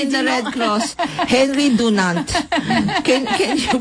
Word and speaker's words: Henri Dunant: We always say in the Red Cross, Henri Dunant. Can you pronounce it again? Henri Dunant.